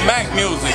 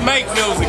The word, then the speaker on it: Make Music: label mac music it's not mac music it's make music baby we make music